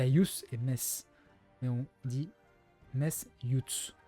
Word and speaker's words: Metz: Comme les mecs qui disent Metz, j'en peux plus. Metz.